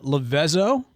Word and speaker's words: Levezzo: Did I butcher it or did I say it right? You got it. Yes, there we go. That's not the Italian spelling. No. The pronunciation. That is the butchered Mississippi version.